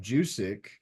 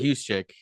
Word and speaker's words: Juszczyk: He picked up Jusic. Is that how he pronounced it? I oh, Kyle said, Juszczyk.